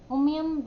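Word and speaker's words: Umiam: और मेघालय की है उनम्योंग, अगर प्रोनाउंसिएशन में हो सकता है it's called उमियम lake, pronunciation उमियम lake, जो कहाँ पे पड़ता है?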